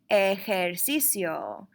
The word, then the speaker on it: hacer ejercicio: workout or to exercise remember that H is completely silent in the word I said you don't pronounce it at all and I know I